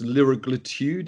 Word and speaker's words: liraglutide: The drug's liraglutide.